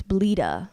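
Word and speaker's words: Bleta: jelly yeah yeah well my real name is Albanian but in in in the states um they they you know it's bleeda okay that's how they say it the American way the English way or whatever um and they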